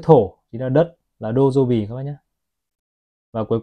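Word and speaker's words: 土曜日: Chữ kim chính là trong tiếng Nhật họ đọc là kinjobi. Và đến chữ thổ chính là đất, là dojobi các bác nhé.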